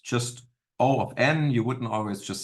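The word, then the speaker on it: O(n): is O of G of n um it's pronounced just o of n you wouldn't always just say Big O whatever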